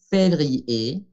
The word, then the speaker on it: février: Palabra que nos hace recordar que ER es E, février, février, mars, mars, pronunciamos